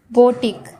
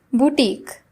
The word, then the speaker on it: boutique: It is not boutique. Its pronunciation is boutique. So let's learn the correct pronunciation of boutique. It is pronounced as boutique.